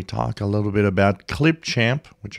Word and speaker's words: Clipchamp: a little bit about Clipchamp, which I still have a hard time pronouncing correctly. For some reason, I keep calling it Clipchimp.